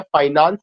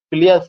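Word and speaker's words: Fleance: ये जो फाइनेंस लिखा गया है, फाइनेंस नहीं था, उसका जो स्पेलिंग था Fliance. वो फियांस, Fliance. FEANC, फिलियंस, FLEANC था, फिलियंस। Fliance, sir.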